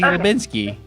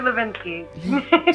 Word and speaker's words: Hlebinsky: You can't pronounce my last name. Oh, no. It's Hlebinsky. Yes, Hlebinsky.